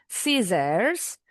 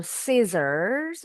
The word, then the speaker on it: scissors: Jadi nggak boleh bacanya scissor, walaupun ada S-nya, kalian tulis ada S-nya, tapi nggak dibunyiin. Nah, orang jadi salah dengar, salah pengertian nanti. Bacanya boleh scissor without the R, just like the British, or scissors, ada R-nya. Yang penting S-nya jelas.